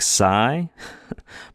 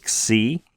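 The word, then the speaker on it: ξ: Some people will pronounce this letter xi. I pronounce it psi, but if you have a teacher that pronounces it xi, that's totally fine. There's nothing wrong with that, just slight variations.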